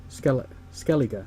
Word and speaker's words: Skellige: Skellige, that's how you pronounce it, that's right.